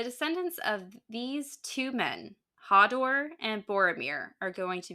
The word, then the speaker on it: Hador: It looks like Hador, but it's apparently pronounced Hodor.